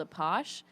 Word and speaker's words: Apache: So in college there was a party called a posh, but it was spelled like Apache, but it's like a traditional party, but everybody just wears like lingerie or whatever.